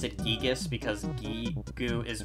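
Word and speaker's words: Giygas: I don't care if people have different pronunciations. It's Gigas.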